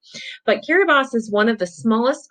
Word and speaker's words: Kiribati: how to say this i believe it is kiribas instead of bhati i think it's kiri boss might be that might be right but kiribati is one of the